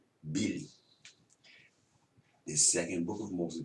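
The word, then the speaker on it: mbili: M-B-I-L-I. The M is silent. It's just there for front. Bili.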